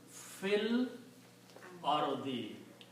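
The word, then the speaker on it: فِي الْأَرْضِ: Al or the okay when you reite together you combine this fa with the lamb and do not pronounce this Al if again so this will become Phil Ari in the land or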